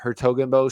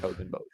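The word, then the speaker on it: 's-Hertogenbosch: That Hertogenbosch starts. It's like apostrophe S dash H. Oof. Hertogenbosch. It's like a silent S.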